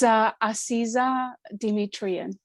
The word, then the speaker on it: Asiza Demetrian: Now, you might want to correct my pronunciation of your name. It's Asiza Demetrian.